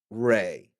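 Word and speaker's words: Rei: No, the name spellings may be different between the original dub and then the redub, but either way, it's still pronounced Ray.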